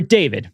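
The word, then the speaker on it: D4vd: His name is David, but I like to call him D4 Vid because of the way it's spelled, but his name's David.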